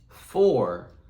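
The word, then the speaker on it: four: But the number 4 is spelled a little bit differently. Because where it normally says or would be O-R, today our word is spelled with a O-U-R. So together it's spelled F-O-U-R. 4.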